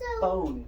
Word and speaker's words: phone: So you're learning that the PH sounds like makes an F sound when PH are together? Yeah. It will also say F. Mm-hmm. And Right, also like phone.